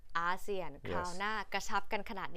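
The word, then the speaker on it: ASEAN: ทาง เศรษฐกิจ เท่า นั้น ขอ ออก เสียง ชัด ๆ อีก ที มี เอเชีย แล้ว ประชาคม อาเซียน อ่าน ว่า อาเซียน เอเชีย อาเซียน คราว หน้า กระชับ กัน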